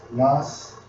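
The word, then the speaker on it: נס: The banner is Strong's H52 to 51, and it's pronounced as Nas, and it states something lifted up, signal pole, ensign, standard, signal.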